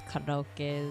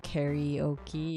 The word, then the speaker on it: karaoke: way that people pronounce karaoke is always interesting to me because it comes from karaokestora, and kara means open or empty, and then orchestra is just orchestra, right?